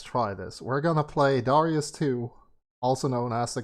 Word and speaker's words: Darius: hard garayus and uh you might think it's supposed to be pronounced darius but it's actually darius i found out uh from a super fan the reason we're playing